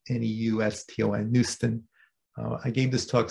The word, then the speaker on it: neuston: And it is the home of a bacterial community that's called neuston, N-E-U-S-T-O-N, neuston.